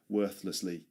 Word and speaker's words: worthlessly: Worthlessly. Worthlessly. Worthlessly. Again, this th sound appears. And that's why it's difficult to pronounce this word.